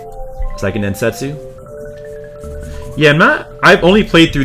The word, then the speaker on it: Seiken Densetsu: Or Seiken Densetsu 3. Or how do you wait, no, how do you say Seiken Densetsu, right? Seiken Densetsu?